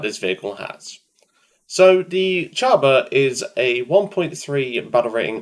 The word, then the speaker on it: Csaba: review of the well I've been told to pronounce this thing is Chaba I hope I'm not butchering that because I've never tried to pronounce it properly I just called it a cassava but apparently it's pronounced Java before I begin in